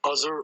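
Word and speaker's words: Azhar: tricks my name is azer and i'm stand up comic so here my name is like buzzer i wanted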